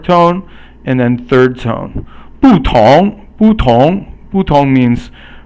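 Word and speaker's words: 不同: So 不同 means different. So fourth tone and then second tone.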